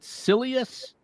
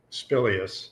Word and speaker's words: Spilious: Is it Silious? Spilious. Spilious. I forgot the P.